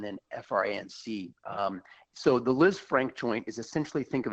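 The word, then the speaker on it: Lisfranc: season missed the playoffs initially the thought was Liz Frank injury and surgeries needed and then the the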